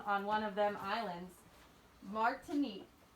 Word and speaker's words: Martinique: one of them islands martinique is that how you pronounce it is it more tonique martinique yeah yeah mark mark to me